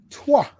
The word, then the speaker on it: Troyes: It is Troyes. Thank you. I'm very happy that you're happy I got that pronunciation correct there, Pat.